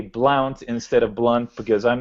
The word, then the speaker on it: Blount: And just for the record, my last name is spelled blunt.